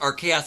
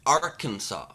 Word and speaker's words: Arkansas: Also, Bert, real quick, it's not pronounced Archaeas, it's Arkansas.